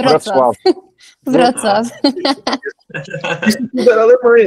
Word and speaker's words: Wrocław: Wrocław, não sei como é que pronuncia. Wrocław.